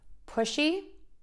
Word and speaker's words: pushy: So again, we have sh and s, and then end with that E vowel, nice and long, smiling vowel, E. So let's put that all together. Puh. She, just like saying that girl, she, as opposed to pussy, like I see someone.